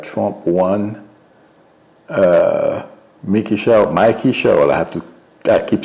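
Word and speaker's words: Mikie Sherrill: Uh Mickey Sher, Mikey Cheryl, I have to I keep saying Mickey. Mickey Mickey would be the pronunciation in Creole or French.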